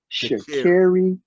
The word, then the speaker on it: Sha'Carri: And I don't want to say her name wrong, so LeBron, say her first name right. Put respect. Sha'Carri Richardson.